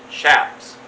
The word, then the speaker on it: chaps: make a nice pair of chaps out of it or shaps as some people pronounce it so uh what I'm